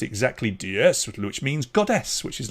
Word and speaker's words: DS: is because in the french language ds is pronounced exactly diaz which means goddess which is lovely there was